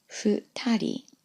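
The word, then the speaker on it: 二人: Now in the example, I've chosen 2 people, which is pronounced futari, futari.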